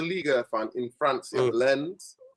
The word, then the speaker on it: Lens: Yeah, Lens. Lens is how they pronounce it. Yeah, Lens. The French way, English, I call it Lens.